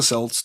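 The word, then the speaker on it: Celts: Uh, so the Kelts or the Selts, depending on how you hear it in your head or know of it and a big happy Halloween to you too, Heidi.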